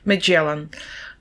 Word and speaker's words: Magellan: Вимова його прізвища. Magellan.